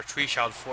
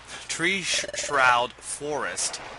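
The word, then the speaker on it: Treeshroud Forest: we haven't gone before Tre sh for uh ah that is not how you pronounce it um tree shroud Forest which was where gral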